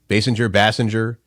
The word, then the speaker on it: Basinger: Bassinger. I thought it was Basinger. You could probably look that up. I'm pretty sure it is. I'm sure it's Kim Basinger.